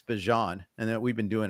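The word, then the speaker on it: Bijan: I did see this week that he confirmed it's Bjon and that we've been doing it wrong. All right. So like Dijon. All right. Like the like the mustard.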